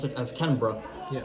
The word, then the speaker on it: Canberra: the cities correctly, like Canberra, as a non-Australian or Aussie, as they call it, would say. Yeah. Well, and a real Aussie would pronounce it as Canberra, Yeah. like bruh, not Berra, bruh.